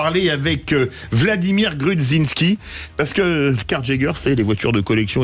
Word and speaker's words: Carjager: tout d'abord Prous présenteznous car Jager je l'ai bien prononcé ça va car Jager exactement à l'anglais c'est chasseur de voiture